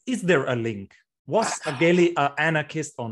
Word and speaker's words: Aguéli: So Aguéli in the French pronunciation, and he spent most of his life in France.